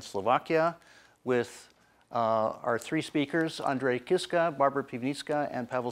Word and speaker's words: Andrej: It also ends with the confusing J. So it's not Andrej, it's just Andrej, pretended the J is silent.